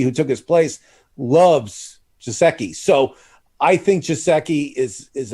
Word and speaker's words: Gesicki: I mean, he was like, you got to drop Mike Grzinski. Is that how you say his name? Mike Gesicki.